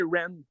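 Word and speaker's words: Wren: de lien euh ben je dis Ren mais je pense c'est Ren c'est il y a un W avant mais je penseil le prononce pas là ok W en tout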